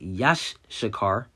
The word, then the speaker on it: Issachar: with israel all right the name issachar meaning he is hired and pronounced yash shakar all right and you